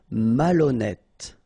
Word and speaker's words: malhonnête: décider, malhonnête. Okay, remember, H doesn't exist, so malhonnête. Don't insist on the final E. Malhonnête. And here you get E accent circonflexe, so you pronounce it like E.